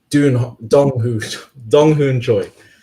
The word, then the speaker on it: Dong Hoon Choi: Dun Hong Choi, Dong Hoon Choi. That's how you say it.